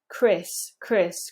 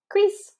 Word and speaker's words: Chris: doesn't change the meaning Chris Chris we don't want to over stretch that e it sounds weird if you do that so try and keep it quite quite in proportion Chris crease then we've got